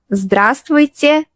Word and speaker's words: здравствуйте: Yes, здравствуйте is long. But don't panic. Try to pronounce it slowly.